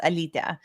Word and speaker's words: Alita: The way that I pronounce it is like the Americanized version, but in Lithuanian it's pronounced Alita.